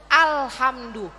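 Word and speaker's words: الحمد: ahinakirin walhamdulillahibilam Bu perhatikan alif lam itu almrifat kalau alqamariah itu bacanya harus jelas Ibu jadi kalau jelas itu tidak ada pantulan tidak ada pengulangan tidak ada penekanan C alhamdu alhamdu coba alhamdu alamdu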